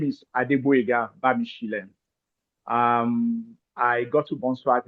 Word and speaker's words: Adeboyega Bamisile: Um like you have rightly pronounced well my name is Adua Bishen.